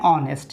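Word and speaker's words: honest: Same পরেরটাও many an অনেস্ট, এখানে অনেস্টের কারণে অনেস্টের H silent থাকে, উচ্চারণ ও থেকে উচ্চারণ হয়।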